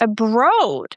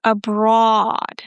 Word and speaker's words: abroad: So in the word abroad, the OA is pronounced as aw. Listen, not abroad. There is no O, abroad. It's the aw sound that we have in law, saw, raw.